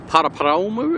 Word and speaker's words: Paraparaumu: That's going to head down to Paraparaumu, or Paraparaumu if you want to try and get into the correct pronunciation.